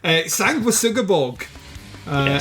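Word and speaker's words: Sanguisugabogg: the t-shirt, and Dave taught us how to pronounce it, which was helpful. Sanguisugabog is the name of the band.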